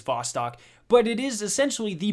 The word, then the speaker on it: Vostok: a crucible map called Bostic or Vostok I'm not really sure I'm bad at pronunciation I'm pretty sure it actually is Vostok but it is essentially